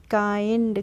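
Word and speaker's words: kind: next rule है हमारा आई का प्रोनाउंस एशन हम इ करेंगे कैसे करेंगे के आई एनडी है तो हम इसको पढ़ेंगे काइंड कैसे पढ़ेंगे काइंड पढ़ेंगे आई करके इसका प्रोनाउंस एशन होगा तो काइंड हो जाएगा ऐसे ही पढ़ लेंगे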